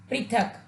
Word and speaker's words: पृथक: एक अशुद्ध शब्द है और प के साथ री की मात्रा का प्रयोग करने के पश्चात एक नया शब्द बनेगा जो कि शुद्ध शब्द होगा और उसका उच्चारण होगा पृथक।